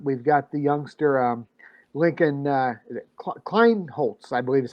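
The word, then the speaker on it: Kleinholz: We've got the youngster Lincoln Kleinholtz, I believe is how we pronounce that.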